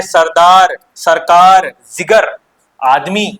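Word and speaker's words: ज़िगर: अगला है सरदार सरकार जिगर आदमी ये देखिए नुक्ता लगा हुआ है तो इसको थोड़ा उच्चारण जिक्र टाइप से करना पड़ता है ठीक है ना जिगर हो गया नुक्ता लगा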